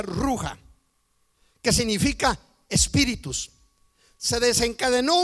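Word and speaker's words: רוח: Quiere decir que este viento eh viento, la palabra viento en en hebreo arameo se pronuncia ruja, que significa espíritus.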